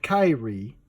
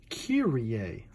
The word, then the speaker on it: Kyrie: a comic book here Rea not Kyrie as as some on the internet one too to pronounce this word this is kiri a learn learn yeah step